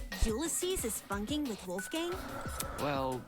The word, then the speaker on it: Ulysses: Why would Ulysses know anything?